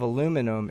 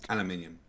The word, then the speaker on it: aluminium: So the density of aluminum is about aluminium 400 times greater than that of the sulfur hexaflloride.